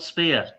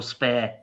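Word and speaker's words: Speer: Albert Albert Spear. Now they know exactly how tall Albert Spear is or Spare depending how you pronounce him.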